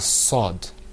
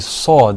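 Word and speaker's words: ص: basically, when you're pronouncing the sod, you're going to purse your lips a little bit Yeah.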